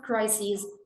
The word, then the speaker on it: crises: of the major health crises on the planet. Crisis is written with an i s in the end, but this one is pronounced as crises, plural. It ends with es.